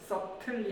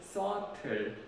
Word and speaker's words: subtle: 여기서 B가 있지만 묵음 처리이기 때문에 B를 발음 안 하거든요. subtle이 아니고 subtle 이렇게 발음을 하는데요.